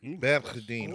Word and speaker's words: Berdine: You know, if you can pronounce it correctly, it's Berdine. Berdine.